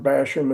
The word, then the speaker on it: Bassham: Yeah, it's like bash him in the nose.